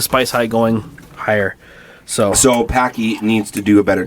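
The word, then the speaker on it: Paqui: Is that how you pronounce it? Yes. P-A-Q-U-I. Packy.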